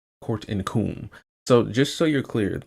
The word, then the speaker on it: Qom: So, it's actually pronounced Qom. Court in Qom.